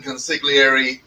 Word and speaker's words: consigliere: Somebody named me, tagged me, and baptized me the Cuban consigliere a while ago. So, yeah. You That's don't me. pronounce consigliere, right? Consigliere. Consigliere. No, it's consigliere. It's Italian. You're Irish.